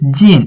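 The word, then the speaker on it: 近: So this gin is a falling tone.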